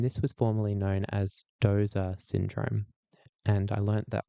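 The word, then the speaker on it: Doose: And this was formerly known as Doza syndrome. And I learned that pronunciation from one of my German epileptologology colleagues who was getting frustrated that everyone calls it Duce syndrome in Australia, but I'm told that it's Dozer syndrome.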